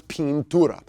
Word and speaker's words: pintura: paint well that is remember the burrito rule of pronunciation that I makes the long e sound so it's Pintura now who is a person that uses Pintura right that is a